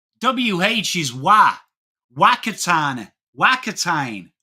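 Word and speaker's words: Whakatāne: is strength of man, Whakatane is strength of man. And he's like, excuse me, ma'am, I'd just like to say, why do you pronounce it fa? WH is wa. Whakatane. Whakatane. Whakatane is how you say it.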